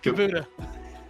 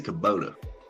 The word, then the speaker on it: Kubota: Kabuta. You say Kabuta? Yeah. Did I pronounce it wrong? I think it's Kubota. Fuck.